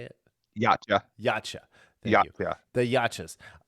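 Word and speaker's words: Yautja: Yacha.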